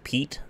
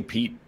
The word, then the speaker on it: Piet: wrong this whole time it's Piet Mondrian it doesn't matter he's French over here we say Pete whatever you know whatever